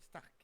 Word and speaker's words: Starck: Stark. Comme Tony? Ça s'écrit pas pareil. On arrive. C'est une Ah, nuance. ça se prononce pareil, mais ça s'écrit pas pareil.